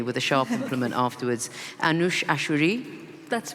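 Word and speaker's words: Anoosheh Ashoori: said I'm Iranian so if I get this pronunciation wrong you can hit me with a sharp Implement afterwards anush ashuri that's right o uh who was imprisoned alongside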